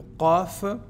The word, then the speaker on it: ق: Par contre, ici, le qaf, ce qui est prononcé qa, on n'a pas son équivalent en français. Alors, il ressemble un tout